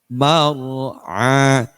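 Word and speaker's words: مرعى: Sekedar ra itu kalau sukun kemudian didahului dengan harakat fathah maka dibaca tebal. Bacanya mar mar'a mar'a mar'a.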